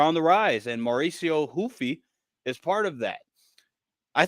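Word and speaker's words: Ruffy: Because I know sometimes they change it, but I think it is Mauricio Hoofy. Because Henzo Gracie, Hoist Gracie. They don't pronounce the R's, but that's the first name.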